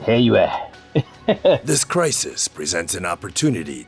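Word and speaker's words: Heiyue: So he pronounces it Heyue.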